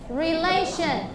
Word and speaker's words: relation: repeat after to me relation relation again relation okay and relation means innam the stress of this words is on the second syllable relation okay next we have an